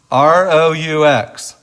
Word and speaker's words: roux: R-O-U-X. R-O-U-X it's pronounced roux, and it's really just a starter.